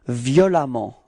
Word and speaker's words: violemment: And it does give us this adverb violemment. Okay, so same concept, you pronounce it like if there was a.